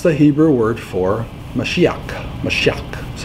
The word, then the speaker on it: Mashiach: Mashiach, that's how you say it.